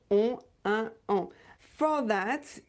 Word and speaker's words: un: You should not pronounce any sound n at the end. There is no n at the end. It's written n, but it's not pronounced.